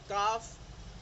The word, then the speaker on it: calf: after the vowels AOU, यानी एल जो है अगर वो AOU के बाद आए तब वो प्रोनाउंस नहीं होगा, लाइक काफ, CALF, लेकिन एल साइलेंट है, सो इट्स काफ, हाफ, palm, would, should,